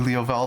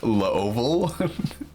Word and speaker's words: Leoval: I thought you were Leo Val 328. Actually, his name is Leoval, not Leo Val.